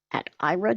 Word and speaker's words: Aira: and again excuse me ira is spelled a i r a um you can